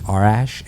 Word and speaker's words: Arash: and by the way my name is Arash it's spelled a rash a-r-a-s-h so everybody just made